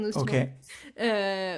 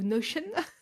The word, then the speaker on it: Notion: Tout mon business est sur Ok, Notion. Ou Notion. Je sais pas, chacun prononce comme il veut. L'anglaise ou la française. chacun le dit à sa sauce. Moi, j'ai dit Notion à l'anglaise.